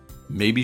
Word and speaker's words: maybe: I'll call him tomorrow maybe she's sleeping however in answer to a question or as a one-word reaction to something it can optionally be stressed on the second syllable to make it sound